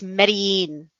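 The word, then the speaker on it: Medellín: one of the countries it's medellin marine oh believe me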